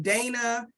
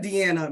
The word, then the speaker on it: Deanna: I have been Dana, Deanna, Danana, Diana. There's no I anywhere in there. I have been everything but Deanna many times.